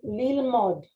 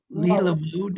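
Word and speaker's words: ללמוד: Lilmod, because this is an O. Lilmod. Oh, so you don't pronounce the second. Right. Remember. Okay, Limod. Yeah. Okay. Remember, this vowel is silent. So it's lilmod.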